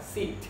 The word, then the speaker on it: sit: thì các bạn đọc cái từ này là Sit chúng ta cứ hay đọc là shit đúng không ạ thì